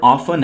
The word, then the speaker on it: often: दोस्तों ये word ऑफन है और इसमें टी साइलेंट है।